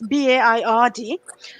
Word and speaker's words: Baird: victim commissioner dame virabelle i'm not sure that i've correctly pronounced her surname but it's baird and on her report